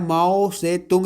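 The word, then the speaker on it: Mao Tse-tung: Under the leader of माओ से तुंग, जो है माओ से, इसको टी को साइलेंट रहता है, ठीक है, माओ से तुंग पढ़िएगा, टी नहीं पढ़िएगा बीच में।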